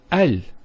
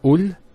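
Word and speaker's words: ال: that the hamster fossil is always pronounced with a feta not a kesra and not a dhamma so it's always ah Al bait Al Tamar and so on it's never UL it's never ill it's always l another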